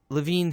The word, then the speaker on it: Lewin: Kurt Lewin, and by the way, yes, I know it's spelled Lewin, but it's Kurt Lewin, who's a German-American psychologist, and he had two things to say about change.